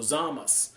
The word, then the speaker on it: Zamasu: Ball Super, is telling Zamasu, or Zamas, as he's going to be called. That's the proper way to say his name, Zamas.